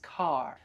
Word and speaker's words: car: But remember in American English we pronounce the r. So, it's car.